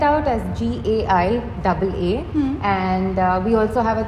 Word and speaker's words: Gaiaa: It is spelled out as GAIAA and we also have a Telugu version of it which is GA and then the Telugu letter Ya.